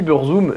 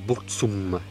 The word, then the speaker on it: Burzum: non sasy pa bozoum ça se dit bourg tout ça mais en vrai ça ne se dit ni beurre zoom niebuhr zoom vous saurez pour votre culture personnelle qui en fait ça se prononce pour tsun je ne sais pas